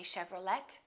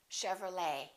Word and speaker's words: Chevrolet: valet and one more Chevrolet we don't say Chevrolet Chevrolet let's look at a few cases where the